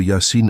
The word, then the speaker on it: Yâ-Sîn: Le début de Yassine est déjà une énigme. Deux lettres isolées, IS prononcé Yassin.